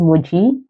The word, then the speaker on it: Moji: hi my name is Moji Emoji without the e if you if you